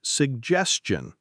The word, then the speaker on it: suggestion: My suggestion would be to the stress is on suggestion.